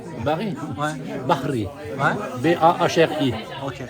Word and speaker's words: Bahri: Bahri. Ouais. B-A-H-R-I. Ok. Pas Barry White, c'est Bahri White.